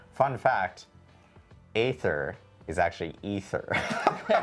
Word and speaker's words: Aether: War is the A is silent.